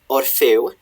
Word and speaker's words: Orfeo: Here we get Sir Orfeo, which rhymes with treu here, but for the rest of the poem he's called Orfeo. Here, I think this is just to rhyme with treu.